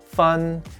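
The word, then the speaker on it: 分: a division of grades lastly this character is pronounced fun and is the smallest denomination of chinese currency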